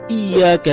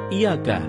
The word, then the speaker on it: iyyaka: nabudu wa iyyaka nasta'in ada yang membacanya dengan Iyakah tidak menekan huruf hias seperti seperti sebagaimana kita ketahui bahwa penekanan itu dapat merubah makna kalau kita baca Iya karena membunuh dengan menekan huruf ya maka artinya menjadi kepadamu lah kami